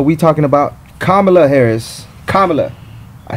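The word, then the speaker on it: Kamala: know I so we talking about kamla Harris kamla I said it right for all you kamla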